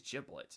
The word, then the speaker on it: Giblet: I think it's Giblet, like jib and then lit.